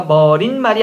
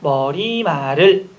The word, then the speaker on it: 머리말: 머린말이 아닙니다. 머리말을.